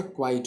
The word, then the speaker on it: quite: Okay, लेकिन जो दूसरा क्वाइट होता है इसका मतलब होता है पूरा, एब्सोल्यूट, तो वो QUITE होता है. तो दोनों की जो प्रोनाउंसिएशन है वो बिल्कुल डिफरेंट है.